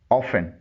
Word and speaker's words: often: OFTEN often اس کے معنی ہیں اکثر. اس ورڈ میں ٹی خاموش ہے. اس کی درست پروننسیشن ہے often.